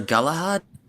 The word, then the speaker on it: Galahad: That's how you pronounce his name. Sir Galahad.